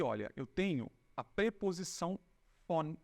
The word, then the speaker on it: von: Quando aqui, olha, eu tenho a preposição von, e esse von aqui eu pronuncio como se fosse um F de faca, tá?